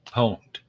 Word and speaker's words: pwned: have I been pwn IDI pronounce pwned have I been pwned so have I been poned you go to that